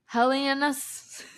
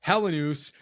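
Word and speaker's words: Helenius: It's like Consta Helenas. Helenus. It's pronounced Helenus.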